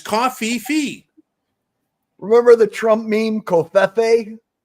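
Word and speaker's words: covfefe: h on this but you've been pronouncing that wrong for the last week and I keep forgetting to tell you after the show well it's Cofe Fe remember the Trump meme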